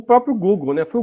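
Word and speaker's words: googol: O Google é o nome Google, só que não escrevendo assim como escreve o Google, escrevendo-se G-U, na verdade é G-O-O-G-O-L. Em vez de terminar com G-L-E, é G-O-L. Pronuncia-se igual.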